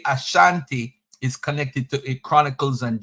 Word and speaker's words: Asante: slave master the British they pronounce it Ashante not the indigenous people they say Asante you ever heard the